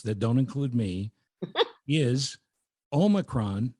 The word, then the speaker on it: Omicron: The correct pronunciation according to many scholarly experts that don't include me is omacron, not omicron or omicron. It's o m yron but the emphasis on the o.